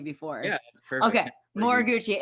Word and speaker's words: Moriguchi: Did I pronounce that right? I should have asked you before. Yeah, that's perfect. Okay, Moriguchi.